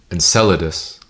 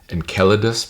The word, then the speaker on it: Enceladus: one of them uh Enceladus. Some some said that you should pronounce it Enceladus, and there was another interpretation that you should pronounce it Enkelladus because it's closer to the original Greek.